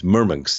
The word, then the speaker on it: Murmansk: when we depart from Murmansk it's mirmix is the way they pronounce it we're gonna be at